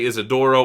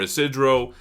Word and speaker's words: Isidro: They say Isidoro or Isidro. So I guess there's multiple ways you could say it.